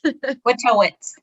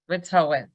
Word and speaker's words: Wojtowicz: Wojtowicz. The J is silent. Wojtowicz.